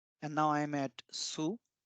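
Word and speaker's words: ツ: we have 2 2 there is no 2 in Japanese it's Su as in tsunami and then this is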